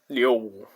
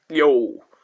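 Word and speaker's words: Liu: and L I O U uh initial L is there so O is stopped so spelling becomes L I U and it is pronounced as Leo Leo and it means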